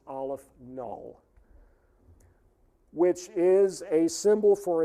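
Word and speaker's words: aleph-null: aleph the subscript is zero and that is pronounced aleph null which is a symbol for a certain level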